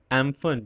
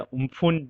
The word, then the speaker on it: Amphan: तो आज हम लोगों ने इस वीडियो में जाना कि साइक्लोन एम्फन या उम्फुन जो प्रोनाउंसिएशन है, व्हाई इज इट so important.